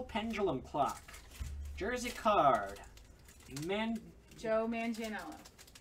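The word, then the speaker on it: Manganiello: Joe Mangianello. Mangianello. It's not how it's spelled, but...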